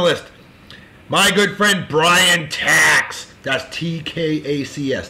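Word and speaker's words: Tkacs: Next on the list, my good friend Bryan Tax. That's T-K-A-C-S. The K is silent. Bryan Tax.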